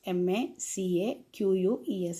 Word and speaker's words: macaques: Macaques, M-A-C-A-Q-U-E-S. Its pronunciation is macaques.